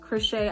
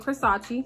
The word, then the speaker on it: Khrisace: It does not look like crochet. I get Crisace because they said it looked like it's spelled like Versace. I get Crisace and I get all type of things where I'm like, did you even try? Did you try? But my name is Crochet.